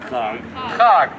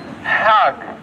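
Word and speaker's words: חג: Chag. But if you know how to speak Hebrew properly, what would you say? Hag. Hag. Not chag.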